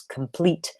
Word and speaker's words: complete: I can see that she thinks complete has 3 syllables and is stressed on the first, when in reality it has 2 syllables and is stressed on the second.